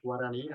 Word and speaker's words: Guarani: It's like Guarani. I'm not pronouncing that right. Yeah, you are.